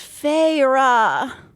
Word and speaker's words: Feyre: She fixed her wide eyes on me and said, "Please, Feyre." She drew out the two syllables of my name.